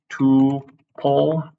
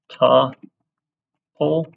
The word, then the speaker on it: tuple: way to say it I think both are perfectly acceptable um sure two pull or ta pull couple Tuple sure either